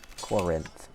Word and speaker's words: Corinth: Corinth.